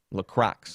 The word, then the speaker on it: Crox: Hey, Shaun, a little hint, the X is not pronounced in Crox. No, I refuse. You guys keep trying to make me say it the way that I don't want to. I don't want to say it that way. Crox is how you say it.